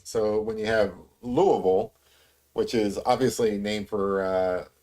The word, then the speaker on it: Louisville: So it should be Louisville, I believe. But because we have trouble actually using our mouths and tongues and stuff, it just comes out lazily like Louisville.